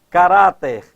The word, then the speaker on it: caráter: Caráter, cuidado, olha. Caráter, quando o vocábulo caráter, quando posto no plural, altera a sílaba tônica. Ó, caráter, a sílaba tônica está aqui, no Rá.